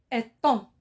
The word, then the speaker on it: étang: à la lettre muette cs on continue un étang un étang c'est un lac et barenboïm répéter